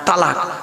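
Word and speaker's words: طلاق: তালাক না কি বলে না এটা বাবা? কি দেয় বলুন না? হ্যাঁ, তালাক। খবরদার তালাক বলবেন না, তালাক বলে কোনো শব্দ নেই। শব্দটা হলো তলাক।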